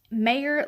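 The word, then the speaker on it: Meyer: Number 8, Mayr Lansky, spelled with M-E-Y-E-R instead of the way I said it.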